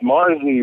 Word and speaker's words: Marzi: But it's pronounced Marzi.